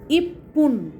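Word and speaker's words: いっぷん: তো আসো আমরা দেখি ইপুন এক মিনিট।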